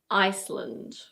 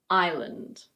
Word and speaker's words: island: Yes, the S is silent, so it's not "ice-land" or "iss-land". It's: island. Island.